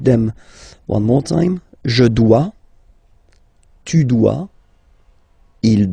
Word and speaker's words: dois: Je dois. Okay, remember final S is not pronounced. Je dois. OI, when you combine the two, you get the sound wa wa wa.